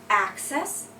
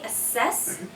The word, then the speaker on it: access: a verb and the first one is access and the second one is access so you can uh you can have access to a file or you can access the file MH if you say assess you are uh like conducting an assessment so you're maybe evaluating something and thinking like how good it is lunch lunch maybe Louch